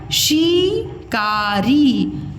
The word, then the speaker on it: शिकारी: लो अब क्या देखो शिकारी शिकारी इसको बोले हैं शिकारी और यह है शिकारी शिकारी यह है शी और यह है सी देखो शिकारी यह है शिकारी